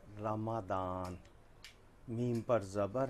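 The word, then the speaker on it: رمضان: ये जो उर्दू में ज़ुआद होती है अरबी में इसको दाल की तरह पढ़ते हैं। अच्छा। तो ये बच्चे भी याद कर लें, रमज़ान नहीं रमादान।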